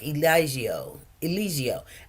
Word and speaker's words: Eligio: He's got a G in his name, and it's almost like the G is silent. So it's like Eligio.